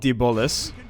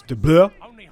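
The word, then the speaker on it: Blois: It's not De Bolus. You guys were having a laugh. I've never heard it pronounced out loud in ages. But yeah, it's De Bleu.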